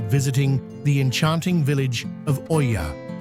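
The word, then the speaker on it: Oia: No trip to Santorini is complete without visiting the enchanting village of Oya, pronounced Iya, perched at the northern tip of the island.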